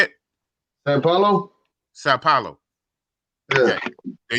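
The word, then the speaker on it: São Paulo: But I also want to hear this Soy Paulo. How you say that? How you like the food in Brazil? Sao Paulo, man. How you say it? Sao Paulo.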